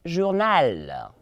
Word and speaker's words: journal: G can give to us there is a journal, journal, journal, journal. Please, the arrow, I will always emphasize it. Somebody's not pronouncing it very well for me in my class here.